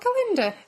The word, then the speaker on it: Galinda: Yeah, is it not Galinda? That's how she says she pronounced it, with a ga.